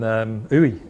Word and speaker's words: Uidh: I think Uy is how you pronounce it.